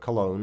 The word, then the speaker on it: Cologne: I bought some tickets to the Köln or Cologne, if you like the English pronunciation, and went to the Fitness Expo.